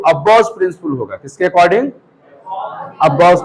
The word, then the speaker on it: Aufbau: यहां पर अब्बाउस प्रिंसिपल का मतलब बहुत सारे बच्चे साइंटिस्ट नेम समझ लेते हैं, क्योंकि प्रोनाउंस होता है अब्बाउस, जो प्रोनाउंस जो होता है ना वो लगता है कि साइंटिस्ट का नाम है, लेकिन ये साइंटिस्ट का नाम नहीं है।